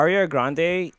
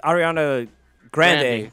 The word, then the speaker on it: Ariana Grande: something funny what you got um so ah Rio Grande and actually it's Ariana Grande it's a real name yeah how you pronounce a last name but she is the